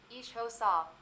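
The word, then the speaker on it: isiXhosa: asterisk the language is asterisk asterisk isosa asterisk pronounced ishosa asterisk asterisk andanda asterisk I love I like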